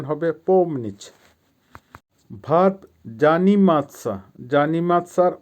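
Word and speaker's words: помнить: এর বাংলা হবে ওয়াশ করা বা ধোয়া ভার্ব পম নিচ আবারো বলছি উচ্চারণ হবে পম নিচ পমনিচ এর বাংলা হবে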